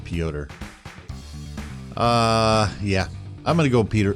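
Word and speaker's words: Petr: calls him Peter Yan it looks like Peter but it's pronounced pyotr yeah I'm gonna go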